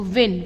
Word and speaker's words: won: तो विन, विन का past tense क्या होता है? वन, WON, ठीक। अब ONE को भी हम वन प्रोनाउंस करते हैं बेटा, और WON को